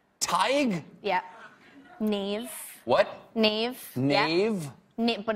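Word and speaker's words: Niamh: Does anyone know how to pronounce that in the audience? How? Tig. Tig? Yeah. Neve.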